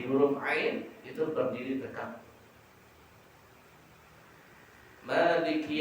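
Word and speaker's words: مَالِكِ: Maliki Yaumiddin, tulisannya Maliki, tapi dibaca panjang mim tadi menunjukkan panjang bacanya, mimnya berbaris fathah yang berdiri.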